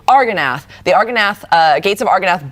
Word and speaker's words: Argonath: Argonath. I want to say Angarath, and I don't know why. Argonath.